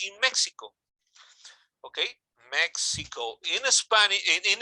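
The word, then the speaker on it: México: Mexico y Mexico, in Mexico. Mexico, but you always pronounce Mexico because the X is now pronounced like the J, like it was.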